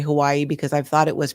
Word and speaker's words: Hawaii: It's just, even when I lived there back in my day, we still just called it Hawaii, but Hawaii, the W in Hawaiian is with a V.